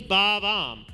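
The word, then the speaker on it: Bob-omb: Bob-Om, so it is Bob-Om.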